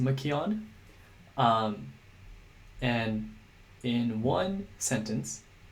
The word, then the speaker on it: McKeown: read essentialism by greg i think it's pronounced makion um and in one